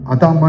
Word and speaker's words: adamah: ஆண்டவர்னு கேட்டீங்கன்னா, அது ஆதாம், இது எபிரேய வார்த்தையில் சொன்னீங்கன்னா அதாமா என்று சொல்லுவாங்க. என்னது? ADAM தானே ஆதாம். அது கூட AH போட்டுங்க. அப்படின்னா ADAMAH எப்படி ப்ரொனவுன்ஸ் பண்ணுவாங்க? அதாமா.